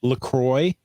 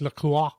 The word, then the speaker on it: LaCroix: um I found out it is Lacroix and it's purposely mispronounced from the French even though it has a French spelling but you know what that's not a big concern it's not like Lacroix or something yeah exactly